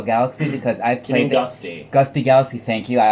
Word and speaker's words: Gusty: For me, it happened to be Gusto Galaxy because I played... Gusty. Gusty Galaxy, thank you. I always get that name wrong.